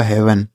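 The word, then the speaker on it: heaven: ए वी इ एन एच से हो गया दोस्तों हा इ इ ए का उच्चारण ए की मात्रा वी ई से व और एन से न ये लिखा गया आपका हेवन ठीक है तो यहां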